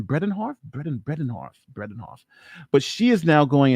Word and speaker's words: Bredehoft: How do you pronounce her name? Bredehoft.